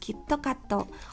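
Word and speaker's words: キットカット: obsession with cute cat kitkat in japanese is pronounced kittokatto which is similar to the japanese phrase quitocats which means you will surely win hence why kitkat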